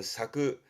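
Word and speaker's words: 割く: 와레루는 나눠지고 깨지고, 앞에서 와루는 나누고 깨는, 지금의 와레루는 나눠지고 깨지는 쪽으로 많이 쓰게 되지만, 요거는 뒤에 쿠가 보일 때 발음은 사쿠, 사쿠라고 하게 되면 나누어 주는 쪽이 쓰여집니다만 주로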